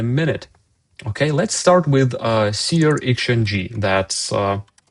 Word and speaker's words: SearXNG: Okay, let's start with SearXNG. That's how it's pronounced.